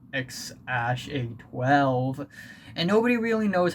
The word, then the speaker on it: X Æ A-12: elon musk and grimes that is x ah a 12 or the actual pronunciation is x ash a12 and uh yeah elon